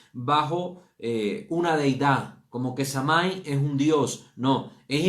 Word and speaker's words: Samhain: Esta fiesta fue bautizada con la palabra gaélica de Samhain, ¿verdad? O Samain. En muchos lugares la pronuncian diferente.